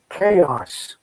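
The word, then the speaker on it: XaoS: one I prefer again the X is pronounced Greek style so it's pronounced chaos chaos says still Monica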